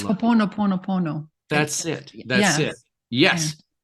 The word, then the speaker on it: Ho'oponopono: It's Ho'oponopono.